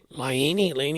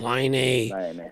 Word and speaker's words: Laine: But then there's Laine. I always pronounce it the wrong way. Laine.